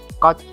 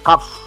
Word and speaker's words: cough: Coach, ya, tulisannya choke. Bacanya cenderungnya ke F ya, cough.